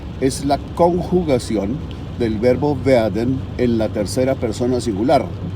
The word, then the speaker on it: werden: se pronuncia en alemán werden. ¿Ya? La W o W se pronuncia en alemán como una V pequeña, como la de visa.